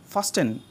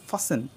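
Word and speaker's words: fasten: জানতে হবে কি আছে অনেকে উচ্চারণ করবে ফাস্টেন ফাস্টেন কিন্তু এটা ভুল এখানে উচ্চারণ করতে হবে ফাসেন ফাস্ট ফাসেন নেক্সট অনেকে উচ্চারণ করবে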